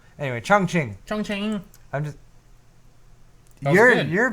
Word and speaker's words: Chongqing: So over in Chongqing. Chongqing. No, it's Chongqing. No, it's Chongqing. Really? Yes. Is that a Q? Yes. Q's are pronounced like C's. Q is pronounced like a ch.